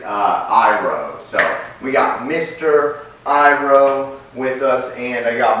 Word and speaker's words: Iroh: His name is not Iron, it is Iroh.